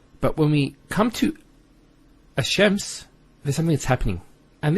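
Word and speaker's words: الشمس: close what happens is this lamb is not pronounced and what happens instead is the Lamb is pronounced as a Sheen so there's a actually a shed there here so it's hashems not al-shems who's noticed when you say alchems it's not smooth rather than as shems which flows and is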